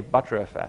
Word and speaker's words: btrfs: cow, and this is why btrfs comes from cow, and why we say btrfs. So that's the right pronunciation, and this is how the inventor of btrfs explained it to me, because butter comes from the cow, it is called btrfs. Not btrfs, not btrfs, it's btrfs.